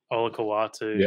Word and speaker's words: Olakau'atu: Olakau'atu, that's how you pronounce it.